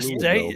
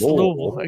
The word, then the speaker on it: Louisville: Don't say Louisville. That's Louisville. Good job. I was wondering if you'd say it right.